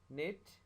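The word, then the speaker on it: knit: K will become silent before N. N अगर K से पहले आए तो K साइलेंट हो जाता है, जैसे नाइफ, नो, नॉक, निट, नी।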